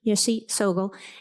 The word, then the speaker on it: Yeshe Tsogyal: Now, these teachings were hidden in the 8th century by this teacher, Yeshe Tsogyal. I always mispronounce that, thank you, Yeshe Tsogyal.